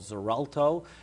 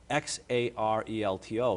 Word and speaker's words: Xarelto: this drug is called Xarelto it's it's pronounced with a z sound but it's spelled with x x a r e l t o so Xarelto or the